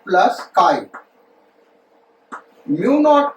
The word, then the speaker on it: chi: काई एच, इसको ससेप्टिबिलिटी पढ़ते बेटा, प्रोनाउंस कैसे करते, काई, CHI स्पेलिंग है, कहते क्या, काई।